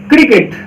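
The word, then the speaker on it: cricket: क्यों ना आ जाए, तो उसका उच्चारण हम क लेंगे। क्या लेंगे? क। तो जैसे देखिए आपके पास एग्जांपल है क्रिकेट।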